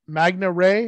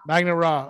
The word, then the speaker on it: Magna Ra: things over um to is it is it pronounced magna ray is that a magnet magnet raw okay sorry about that